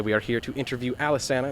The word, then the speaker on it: Alesana: It's pronounced Alesana.